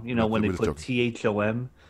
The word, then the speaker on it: Thom: You know when they put T H O M. It's not that name. Tom. You don't like those Toms. It's Thom. It's not Tom. Look, get rid of the extra H.